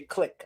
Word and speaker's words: clique: You and I say click. I would pronounce, occupational click. Canadians say clique, which I always thought was because of the French.